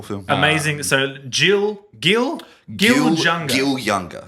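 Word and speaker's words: Gil Junger: Gil Younger is how his name's pronounced.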